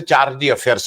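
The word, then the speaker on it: chargé d'affaires: और यहाँ पे उसको, उसका अंग्रेजी प्रोनाउंसिएशन कई अलग अलग होता है, लेकिन हम लोग जो देशी अंग्रेजी पढ़ते हैं उनके हिसाब से चार्जी अफेयर्स हम लोग बोलते हैं। और उसको कोई फ्रेंच उच्चारण पड़ता है, लेकिन हम लोग मोटे तौर पे चार्जी अफेयर्स पढ़ते हैं।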